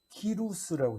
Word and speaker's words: 키루스: 키루스라고 해요. 그 발음 그대로 그 나라 역사적인 발음으로 하면 키루스 2세예요.